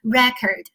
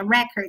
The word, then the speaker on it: record: 单的小词哈，叫做 record。那我读的是美式发音哈，当我读到第一音节 record，它表示是名词的记